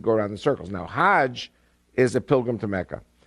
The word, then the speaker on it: Hajj: around the circles now hajj is a pilgrim to mecca hag is the egyptian pronunciation hag in hebrew means